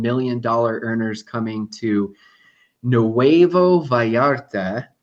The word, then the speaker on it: Nuevo Vallarta: million earners coming to Nuevo Vallarta, which would sound more like Nuevo Vallarta. I want to say it right, just in case Luis is watching here.